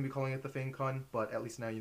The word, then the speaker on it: FangCun: and today I'm going to be reviewing the F con a quick note about the pronunciation it's actually pronounced fun which is an area in guangong China but